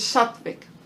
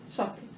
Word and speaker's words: Sattvic: It is Sattvic. And this can be spelled with a V or W. I've seen it both ways. Double T, V-I-C, Sattvic.